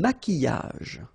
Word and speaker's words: maquillage: Un maquillage. Okay, so here, same rule, QU, but then U is not pronounced, so qui, and then y.